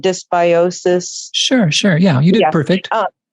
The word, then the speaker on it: dysbiosis: I think I can never pronounce it right. It's called dysbiosis.